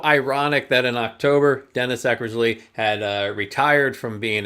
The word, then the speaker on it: Eckersley: Sox great Dennis Eckersley I like to pronounce it Eckersley I know you earlier said exercise and then had to start over again yes um but you